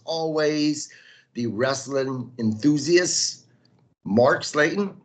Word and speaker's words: Slayton: the wrestling enthusiast, Mark Slayton. How are you? I'm good, man. I'm good. Mark Sutton. God, I don't know what my name is with names Actually, recently. actually pronounced Sletton. Slayton. That's it.